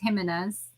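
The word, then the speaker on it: Jiménez: It's Jimenez. Jimenez.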